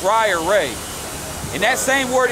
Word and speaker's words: Ra: just real quick now how do you say the word ride the Sun God and Egyptian is right it's really pronounced raya ray in that same